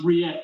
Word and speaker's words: rillette: So even though it's spelt, and my best mate called it rillette for ages, it's spelt rillette, but the L's are silent, so it's rillette, which is basically like potted meat or a kind of chunky pate.